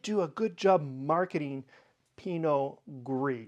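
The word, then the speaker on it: Pinot Gris: to it okay pinio in French it's called Pino gree and it's one of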